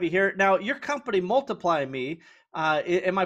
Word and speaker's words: Multiplymii: here now your company multiply me uh am i pronouncing that one right because it's got really interesting spelling it does so it's multiply me with the m double i um you know it's